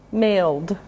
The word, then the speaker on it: mailed: Male. Mailed. This one's a D sound. Male. Mailed.